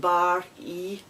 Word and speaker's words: barry: it's number four is barry pronounced bar e about re and it's